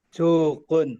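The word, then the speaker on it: سُكُون: sukun ya. Sukun.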